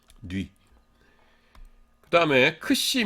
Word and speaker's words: xi: 이름 은 xi 인데 , 앞서 'k' 발음 을 카파 (kappa) 라고 했던 거 기억 하시죠 ? 예 . 하지만 이건 분명 다른 소리 일 거 예요 , 그렇죠 ? 이것 은 'k' 소리 뒤 에 's' 소리 가 오는 'xi' 라고 불립니다 .